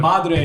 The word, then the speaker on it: Madre: yeah M so Madre M Madre is like the correct pronunciation Madre MRE M um